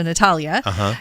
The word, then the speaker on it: Natalija: No, but she has a J in there. It's just pronounced like a Y. Oh. It's like Eastern European. Oh, okay. So Natalia, thank you for everything what you are doing for the world.